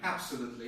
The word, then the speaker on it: absolutely: You think it is the first one, like absolutely, yes? Yes, absolutely. I'm afraid this is not correct. I would say that the main stress comes on the third syllable.